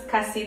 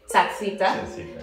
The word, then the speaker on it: Kasita: But Slovenian people wouldn't be able to pronounce Kasita, they would probably say Tacita, because the C, it's like it's a T,